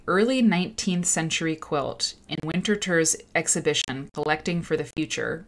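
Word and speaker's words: Winterthur: linda eaton for the winter term museum uh in 20 2007 she wrote uh selections from the winter third winter tour i think it's pronounced winterter collection um winterter does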